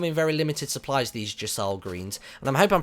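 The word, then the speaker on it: Gysahl: very limited supplies these Jal greens and I'm Hing I'm pronouncing that right people on Twitter told me it was pronounced Jal it's spelled g Ys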